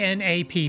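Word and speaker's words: Knapp: Uh, and the default last name is K N A P P. I believe I guess it's pronounced nap.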